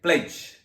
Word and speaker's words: pledge: the last one is you have to pronounce like pledge right so the silent letter is D so this how we